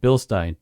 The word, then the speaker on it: Bilstein: You're gonna write Billstein. Billstein. Billstein over and over again. Billstein of the proper pronunciation of that.